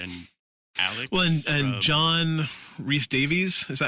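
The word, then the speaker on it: Rhys-Davies: were Luke Skywalker and Alex well and John Reese Davies is that how you say his name yeah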